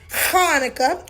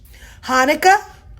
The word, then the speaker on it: Hanukkah: Actually, both Hanukkah and Hanukkah are right. The holiday's name is Hebrew, so there are different ways to spell it and say it in English. Hanukkah, Hanukkah.